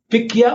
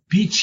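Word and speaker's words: Pichia: other organisms we have pickier or peach yeah it depends how you want to pronounce it and it is low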